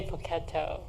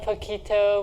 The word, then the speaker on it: Poketo: And my grandmother raised me, actually, so I'm really close to my grandmother, and she would always say Poketo instead of pocket. And it's our mispronunciation of pocket, so that's where it came from.